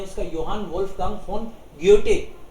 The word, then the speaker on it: Goethe: पूरा नाम है इसका योहान वोल्फगांग फोन ग्योटे. टे इसलिए क्योंकि एच तो साइलेंट रहता है, सो ग्योटे बोलेंगे इसको हम लोग.